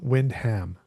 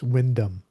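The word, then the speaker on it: Wyndham: And his name is John Windham, but that's not how it's pronounced in in Britain. It's Windam.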